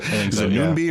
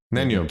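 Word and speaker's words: Nien Nunb: Is that how you pronounce it? Is it Noombi or Noom? Nanyub. Thank you.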